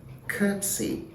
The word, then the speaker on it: curtsy: them you realize that the first one has three syllables okay to see courtesy and the second one has two syllables curtsy currency so what